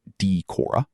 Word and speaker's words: Decorah: near the Minnesota border, which explains his long vowels. Sand pronounces it Decorah.